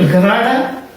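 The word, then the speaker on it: gerade: G referring to Gerada, U referring to Ungerada. That's the correct pronunciation. It's German terminology.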